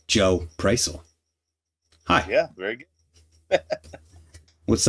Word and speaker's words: Prisel: learned how to say his last name, Joe Prisel.